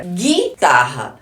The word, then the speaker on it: guitarra: o u e agora guitarra esse U aqui ele foi pronunciado não foi porque eu falei Gu Não foi pronunciado eu não falei Gui como eu falei aqui ó Gui Então aqui